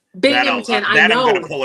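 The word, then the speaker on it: Binghamton: Um, so for example, yesterday's uh tech stage um session with Paul Cenoa, I think I'm pronouncing that right from the Bing Hampton uh Philarmonic Orchestra. Well, it's Bingmpington that I'm going to pull a New York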